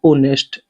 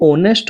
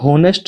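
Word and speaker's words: honest: ईमानदार की इंग्लिश होती है दोस्तों ऑनेस्ट। एच ओ एन ई एस टी ठीक है दोस्तों यह ऑनेस्ट होता है यह होनेस्ट नहीं होता है एच इसमें साइलेंट होता है अब जो अगला सेंटेंस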